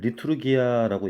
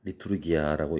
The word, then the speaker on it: liturgia: 공공봉사는 리투르기아라고 읽힙니다. 리투르기아라고 읽혀요.